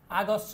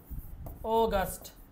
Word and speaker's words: August: স্বাভাবিক উচ্চারণ July July অগস্ট আগস্ট না অগস্ট অগস্ট অগস্ট May June